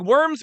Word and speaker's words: Worms: And it looks like worms, but it was actually pronounced Worms, which was a city, all right?